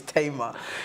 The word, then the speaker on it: Tamar: apparently it would be tomorrow or Tama I thought you knew for a fact she pronounces her name is tama and her family but there's someone else in Nigeria called Tamar and she says to mom